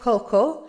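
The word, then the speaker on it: cocoa: هي الكاكاو اول سبب اذا هي كوو هكذا تلفظ ها يعني لا تلفظ بالمره كوو اذا اول سبب ليه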